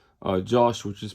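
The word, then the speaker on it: Jauch: clocks but they used other movements like uh Josh which is pronounced Yak in German um which is written j a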